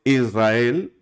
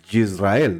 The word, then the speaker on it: Israel: Por ejemplo, hay gente que dice Israel, pero hay gente que se le nota como el Yisrael, ¿no? No es una, escuchen, no es una Y como cuando decimos yo, no. Es como más suave, ¿de acuerdo?